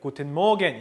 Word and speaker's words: Guten Morgen: 몇십 년 걸쳐 가지고 독일어의 r 사운드가 점점 약해지고 있어요.